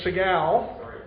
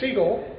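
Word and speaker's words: Sehgal: Jim pronounced my name Segal. It's Seagull, which is the Indian pronunciation of that word, just so everybody's clear.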